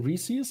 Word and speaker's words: Reese's: Because you guys are often discussing Reese's, I believe, is the correct pronunciation.